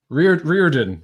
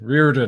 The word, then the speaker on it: Riordan: Riordan. Riordan.